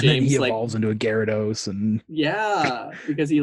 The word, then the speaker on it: Gyarados: And then he evolves into a Gyarados and...